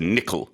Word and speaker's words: nickel: pronunciation in English is nickel so the emphasis is on the first syllable um also if you